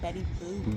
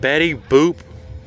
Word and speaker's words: Betty Boop: B E T T Y, Betty Boop. Betty Boop. Rhymes with poop, red roof.